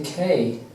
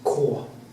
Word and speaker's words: Knut: it's quite funny because they say can't say k for some reason uh in the Norwegian way of course which is cor Cor not K but Cor in Norwegian it's